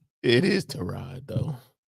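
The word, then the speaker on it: Tyrod: Is Is that not how you pronounce his name? It is Terod though. See Terra Taylor.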